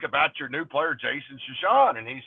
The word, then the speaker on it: Chesson: club and my my the easy way to pronounce my name is chesson and and and but the but the the normal pronunciation is shashan and so he was